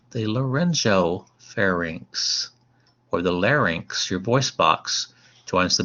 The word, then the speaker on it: larynx: this structure called the larynx l-a-r-y-n-x that's how you pronounce that one larynx lot not larynx